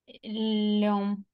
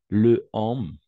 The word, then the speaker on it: l'homme: Le homme, n'est-ce pas? Le homme, mais homme commence par une voyelle ou un H muet, donc on va faire l'élision. N'oubliez pas, l'élision. L'homme.